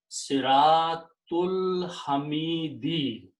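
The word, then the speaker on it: صراط الحميد: And then do not pronounce alif in between. Siratul Hamidi.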